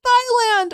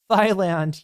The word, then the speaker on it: Thailand: Like when you see a TH, it's ta.